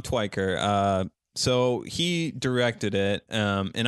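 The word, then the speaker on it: Tykwer: Now, how do you say the director's name here? Tom Tyker? Tom Twyker. Tom Twyker.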